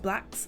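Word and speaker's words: Blxst: insert here featuring thai dollar sign it's like blacks i think but it's oh yeah yeah yeah no that's how you pronounce it you said it all right b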